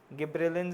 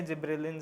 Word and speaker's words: gibberellins: गिबरेलिंस है, जिब्रेलिंस है, देख लेना एक बार प्रोनाउंसिएशन। डिफरेंस आ रहा है। तुम्हारी टीचर क्या बोलती है? जिब्रेलिंस। तुम्हारी? गिबरेलिंस, ठीक है।